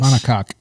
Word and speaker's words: monocoque: Monocoque.